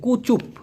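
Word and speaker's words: kucup: যদিও এই চিউমের অর্থাৎ চুমা দেওয়ার প্রকৃত মালয়েশিয়ান শব্দ হচ্ছে কুচুপ। আমি আবার বলছি। আমি এটা লিখে দিতাম তখন মনে ছিল না। কে ইউ সি ইউ পি। উচ্চারণ হবে কুচুপ। তবে এটা খুব বেশি ব্যবহার করা হয় না।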